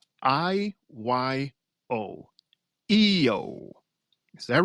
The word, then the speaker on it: IYO: So, first off, we have, let me see if I can pronounce her name correctly, IYO. EO. Is that right? EO Yes.